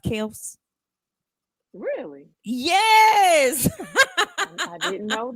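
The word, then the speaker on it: Kelce: to me he but their their name is pronounced Kel not Kelsey wow so they just went along with it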